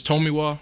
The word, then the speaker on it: Tomiwa: Either it's Tomiwa, or you can say Tomi, and then my last name is.